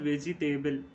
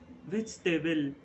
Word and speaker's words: vegetable: Okay, vegetable. It is not vegetable. It is vegetable. Vegetable. Okay, you may notice that I am not emphasizing on the letter G, letter E.